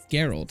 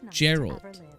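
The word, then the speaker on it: Jeralt: the knights of saros i've been pronouncing it geralt haven't i gerald gerald's the pronunciation you haven't heard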